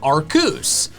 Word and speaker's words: Arceus: And in the end, they decide on Arceus, using arc and making the EUS sound like it does in Zeus.